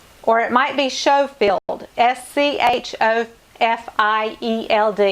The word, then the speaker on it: Schofield: want to say Jane Schofield or it might be Schofield SC Hof I II LD I think it's go field like you would pronounce school Scofield James Schofield Judy cool